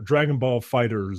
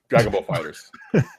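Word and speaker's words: Dragon Ball FighterZ: Ball Z Fighter, or Dragon Ball Fighters Z. How do you pronounce it? Really? Dragon Ball Fighters. Right. It's just Dragon Ball Fighters.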